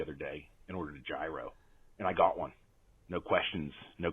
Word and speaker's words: gyro: I'm gonna have a gyro and somebody I'm with says well you know it's actually pronounced Euro that bothers me save